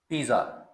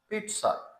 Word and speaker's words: pizza: आई जी जी ए पिज्जा लेकिन यह एक इटालियन डिश है और इसकी करेक्ट प्रोनंसिएशन है पिटस पिटस इसमें आई और ए के दरमियान जो डबल जी है यह जा साउंड नहीं